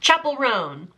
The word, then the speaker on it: Chappell Roan: Like, here she is, memorize her name, make sure you say it right because I've been saying it wrong for such a long time. It's Chappell, like a church. Chappell Roan.